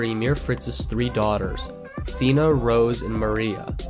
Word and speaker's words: Sina: mere Fritz's three daughters Zeena Rose and Maria I get that Sina is occasionally pronounced sheena I'm just gonna pronounce a